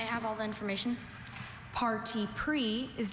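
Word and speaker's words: parti pris: Parti pre is the only pronunciation. This word is a noun. Parti pre comes from French. It means a preconceived opinion, bias, partiality, prejudice. Beth has such party pre about politics that she finds it hard to calmly hear views that she disagrees with. Party pre singular noun and excuse me,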